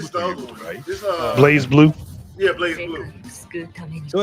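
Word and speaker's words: BlazBlue: other day was like Blaz Blue. I'm like, what the hell is a Blaz Blue? Like, no, it's Blaze. Just because the E ain't there don't mean you don't pronounce it right.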